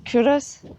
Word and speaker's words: Culross: same as me, but I was going to pronounce it Culross until you spoke to your aunt. Who is from Fife, and she said, no, it's Culross.